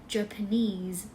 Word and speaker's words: Japanese: ก็ เหมือน กัน นะ Japanese เน้น ที่ neese เหมือน chines Japanese โอเค